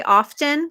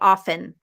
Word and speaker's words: often: yes i fear exactly the t in often is silent in american english um it can be either sometimes i say often sometimes i say often either one is correct uh lucy says some